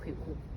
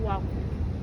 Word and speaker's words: Kweku: Every male child born in Ghana on Wednesday is called Kweku. But the Europeans couldn't pronounce the name Kweku. They corrupted the name to Kwaku.